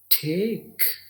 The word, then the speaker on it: TAKE: यहाँ पर ई की कोई आवाज नहीं है। के की आवाज उर्दू के हर काफ की है। टेक मतलब लेना।